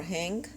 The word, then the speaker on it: hing: heated up uh I added some asapi or Hing um when I spell it in English it's h i n Hing